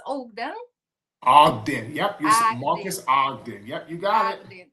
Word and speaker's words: Ogden: Am I pronouncing right? It's Ogden.